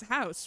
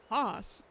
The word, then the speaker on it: Haas: And I was like, it's House, right? Because it's German. A fact that I've literally never ever confirmed with you before. To which I was informed, no, it's not. It's pronounced Haas.